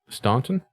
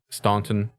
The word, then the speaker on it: Staunton: Imelda Staunton? Staunton? Yeah, that's how I would Staunton? enunciate it. Because there's a U there.